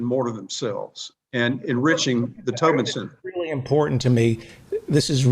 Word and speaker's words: Tobin Center: So what you're saying is the Tobin Center, is that how it's pronounced?